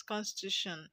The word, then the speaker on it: constitution: with t o n now if to consider this word as Constitution okay the stress is still going to be on to you so when you have